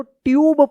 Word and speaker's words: tube: TUBE, देखिए यहां पे रूल से कि जब लास्ट में ई रहता है और ई से पहले अगर यू आता है तो यू का उ या यू उच्चारण होता है, तो क्या पढ़ेंगे? इसको ट्यूब पढ़ेंगे, क्या पढ़ेंगे? ट्यूब पढ़ेंगे।